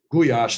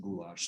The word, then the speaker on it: goulash: my bowl of goulash, or guyash is really how you pronounce it. It's Hungarian guyash is how my mom would pronounce it, but most Americans pronounce it goulash.